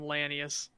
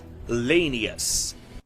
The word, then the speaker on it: Lanius: You get to fight Legate Lanius. Lanius? Whatever. I mean, he hadn't talked to anybody, so he doesn't know that he's pronounced Lanius. So. Well, it's pronounced Lanius, but that's Caesar Kaiser type thing.